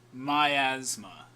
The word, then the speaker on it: Miasma: And that is how it's pronounced, everyone. Miasma. As in, like, the possessive form of the disease, although it's not, like, spelt the same way.